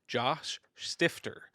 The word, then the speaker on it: Josh Stifter: I am your host, Michael Buyers, and today I'm being joined by Josh Stifter. Did I pronounce that correctly?